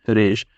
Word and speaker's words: Riche: वो जो है रीश, मतलब रीश या रीचे, जो भी आपको इसे पढ़ना है वो पढ़ सकते हैं। वैसे इसका सही प्रोनाउंसिएशन रीश ही है।